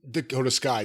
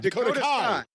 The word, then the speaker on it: Dakota Kai: name that's hurt Tegan Knox no that's Dakota Dakota Skai Dakota Kai Dakota Kai Dakota Kai Dakota Kai do you